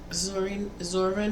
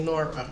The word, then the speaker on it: Zora: of my favorite writers, Zora Neale Hurston. I always say her name wrong because I always want to say Nora. I don't know why. I knew somebody named Nora.